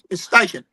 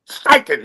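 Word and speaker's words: Steichen: Um, what's the what's the how do you pronounce that? Uh, Shane Stretching. How do you say his name? The coach. Stiken. Stiken.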